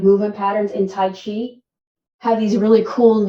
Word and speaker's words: chi: how to cultivate the chi. Chi is energy, whether it's spelled C-H-I, as in Tai Chi, or it's spelled Q-I, as in Qi Kong. Different culture, times, different spellings.